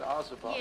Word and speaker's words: Ozobots: They're little Ozobots. Is that how you say it? Ozobots? Yeah, Okay.